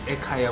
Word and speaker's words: Ekaya: Yeah, and so guys, it's Ekaya without the H. Yes. Oh, so to explain that, so I get a lot of backlash on this. We did not put the H in Ekaya because language, especially in